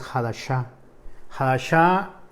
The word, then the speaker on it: Hadassah: de lo de quiénes hadassah como les dije la pronunciación correcta es jalas a casa o la palabra hadassah